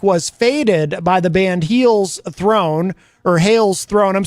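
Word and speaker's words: Hel's: So it looks like, at first I thought it was Hell's Throne when I first saw the name, but then there's only one L because it's Heel's Throne, and Heel has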